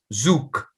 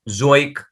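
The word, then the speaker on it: zoek: OE is U. So accordingly, this word zook, this Okay. word will be pronounced as zook, which means to search.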